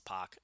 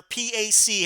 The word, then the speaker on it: X-Pac: Tupac I don't know in American vernacular P AC has always been pronounced POC I don't know how it's done in you know the little corner of England where he's from you know where where they mispronounce everything but it's like the rest of the world has been saying POC for a decade now all of a sudden we're supposed to say PAC I'm sorry that's gonna